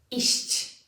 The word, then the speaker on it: iść: You really need to try to finish this word, in this case finish it, because the word ends with the sound, with a short and concise consonant sound. Iść, iść.